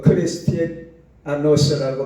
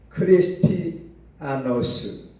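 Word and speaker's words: Χριστιανός: 히브리어라는 카도시 하시드 헬라어라는 하교스 또 크리스티 아노스라고 발음하는데 크리스티 아노스 이렇게 발음하는데 그 뜻은 거룩하다는 뜻이 있어요.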